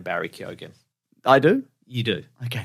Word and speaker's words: Barry Keoghan: Also, this week, speaking of tangentially related, the Batman news, Barry Keoghan confirmed you pronounce his name Barry Keoghan.